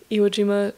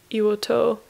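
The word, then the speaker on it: 硫黄島: put you know if depending on the character preceding that character the pronunciation can change so Shima changes to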